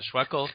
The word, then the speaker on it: Schweckel: I think he said it rhymes with freckle, and so John Schweckel, thank you very much.